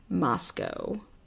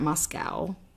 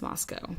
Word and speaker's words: Moscow: it pronounced both ways it is definitely Moscow like it's not Moscow it's Moscow but um they also say